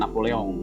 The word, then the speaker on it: Napoleon: Ini di negara Prancis ya, Napoleon ya, bacanya Napoleon ya, Bonaparte ya.